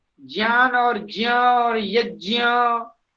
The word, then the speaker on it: यज्ञ: ज्ञान ज्ञान ज्ञान नहीं होता है, ज्ञान होता है जय और ज्ञ। वहां ज्ञ ज्ञ उच्चारण करना होगा, जैसे यज्ञ, हाँ जी। यज्ञ यज्ञ नहीं बोला जाता है। यज्ञ यह उच्चारण अशुद्ध है। क्यों क्यों अशुद्ध है? ज और य मिलकर के बनता है, ज्ञ बोलना चाहिए।